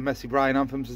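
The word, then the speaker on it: Mesembryanthemum: yet i've got some more these in the messy bryan anthems that's how you pronounce them uh little daisy things they're sitting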